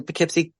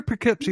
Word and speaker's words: Poughkeepsie: He was like the Poughkeepsie murderer and Stinky, the stinky serial killer.